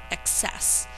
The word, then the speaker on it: excess: access number 17 is excess the emphasis on this word is on the second syllable and it means too